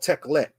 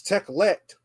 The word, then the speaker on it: Tekhelet: blue right here is a rare color called teklet. Now, this teklet is spelled Tekhelet.